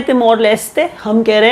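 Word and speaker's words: Timor-Leste: तरीके से प्रोनाउंस करिए इंग्लिश में जनरली तिमोर लेस्ट लेस्ट बोला जाता है आप तिमोर लेस्ट अगर आप घुसना चाहे उनके अपने प्रोनंसिएशन में कंट्री का नाम है तिमोर लेते हम कह रहे हैं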